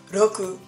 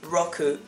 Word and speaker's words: Rockuu: You may have noticed that I pronounce it Rockuu the Japanese way and not Rockuu the American way, because it's a Japanese nickname.